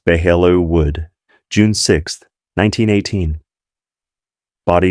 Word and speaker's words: Belleau: Sergeant Thomas O'Brien from Massachusetts, 26 years old, missing in action at Belleau Wood, pronounced Behello Wood, June 6th, 1918.